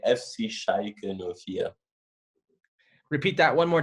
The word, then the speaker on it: Schalke: way of butchering names so good as she pronounces it shaggy shaggy shaggy how would you say how do the Germans properly pronounce it they say FC sheikha Nokia repeat that one more time for the